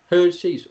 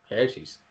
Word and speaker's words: Hershey's: mericano da terra da hershey's ou Régis com preferir a pronúncia ser qualquer correto essa famosíssima marca né